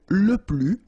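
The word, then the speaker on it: les plus: plural form okay so keep in mind that i don't pronounce it this final s here so we get le plus okay and then if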